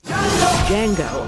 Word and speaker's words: Django: And yet, here they are, facing off in one of the most daring movies of the year, Django Unchained. What's your name? Django. The D is silent.